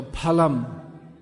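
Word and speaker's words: फलम्: In modern Indian languages, it's always pronounced as it is in English. When we see PH in English, it's always pronounced F. As in, for instance, I'm just trying to think of a word, phonetic. But in Sanskrit it's P.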